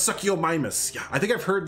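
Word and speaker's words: Suchomimus: It's pronounced succomus.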